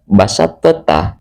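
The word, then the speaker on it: بسطت: Cara membacanya juga sama, tidak boleh diqalqalahkan. Biasanya basat teta, basat ta. Tapi karena ini adalah hukum tajwid idgham mutajanisain yang sudah berlaku, maka cara membacanya harus dimasukkan ke huruf ta. Jadi thnya dihilangkan langsung ke ta.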